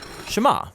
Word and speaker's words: Shema: is hear or listen which in Hebrew is pronounced shama that's where the prayer gets its name now Shama is a really common